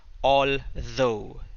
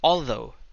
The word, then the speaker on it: although: This is although. Okay, it's pronounced although. The th, the, although.